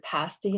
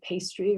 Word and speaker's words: pasty: will see the word pasty and because it looks like pastry they'll say pastry or they'll call it